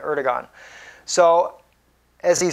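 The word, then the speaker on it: Erdoğan: help of ER erdogan erdon is how he pronounces his name I guess it's more correct way to say it erigon so as he said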